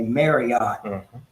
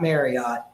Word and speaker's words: Marriott: I would think that the Marriott family probably hates hearing people say Marriott. It's not Marriott. Let's learn now, before they get here, to pronounce it properly. It's Marriott.